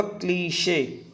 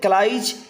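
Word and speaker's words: cliché: ठीक है, ये क्लीशे है, इसका जो प्रोनाउंसिएशन होगा दोस्तों वो होगा क्लीशे। क्लियर? क्लीशे। ये क्लाइज या क्लाइश नहीं होगा, ये होगा क्लीशे।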